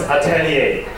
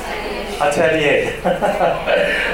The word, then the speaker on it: Atelier: at excellent very difficult this is actually French this is Atelier Atelier okay this was the brand